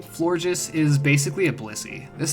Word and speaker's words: Florges: all right now we get to gen six flourges as how I pronounce this Pokemon the name florges is basically a Blissey this thing's like an